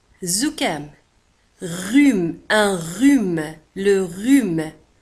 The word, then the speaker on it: rhume: Le rhume. زكام. Rhume. Un rhume. Le rhume. كما تلاحظون على أن rhume تكتب R, H, U وتنطق rhume. Le rhume.